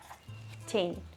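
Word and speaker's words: цень: Тень in Russian language, тень. In Belarusian language, t becomes ц, so тень, тень, тень.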